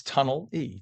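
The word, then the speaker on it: Tonnelle: It's tunnel E. Tunnel E.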